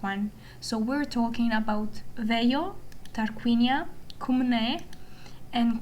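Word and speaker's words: Veio: um we are talking about I will be using the Italian pronunciation which um is the original one and I think it's the most authentic one. So we're talking about Veo, Tarquinia, Kum and Capwa.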